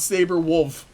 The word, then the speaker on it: Saberwolf: wolf into the wolf you should definitely know how to pronounce that one you know it's saber wolf that's that's my name this is saber wolf